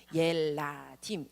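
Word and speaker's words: ילדים: 옐라딤이라고 읽거든요. 옐라딤. 어디서부터 읽으시면 되냐면요, 이쪽부터 읽으시면 돼요. 옐라딤 이렇게 읽으시는 거예요.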